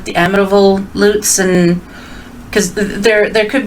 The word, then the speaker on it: Lutz: light shine on everything so i think they pronounce it luts though in the states i don't think they pronounce it lutz i've heard some people pronounce it luts and i'm like no it's loots my uncle robert um my pap's brother his